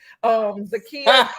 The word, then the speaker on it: Zakiyyah: So you can find me there, and you can also find me on Facebook at Zakia, ZAKIYYAH, 8 letters, 3 syllables. Zakia.